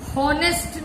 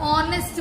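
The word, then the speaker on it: honest: एच माने ह, हॉनेस्ट नहीं बोल रहे हो आप। यदि आप हॉनेस्ट बोलते तो आप ए लगाते। आप ऑनेस्ट बोल रहे हो, ऑनेस्ट, ऑनेस्ट यानी ओ का साउंड आ रहा है यहाँ पे। जब ओ का साउंड आ रहा है तो ओ क्या है, ओ वोवेल है, इसलिए इसके पहले एन लगेगा, एन ऑनेस्ट।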